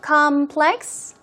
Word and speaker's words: complex: complex here we go complex first syllable stress so it's obviously a noun complex we're talking about